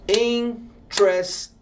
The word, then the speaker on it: interesting: Você escreve interesting. Só que você fala interesting. Ó, 3 sílabas.